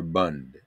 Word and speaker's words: Bund: And that, I may be giving it a Yiddish pronunciation because Yiddish was their language of choice in Eastern Europe.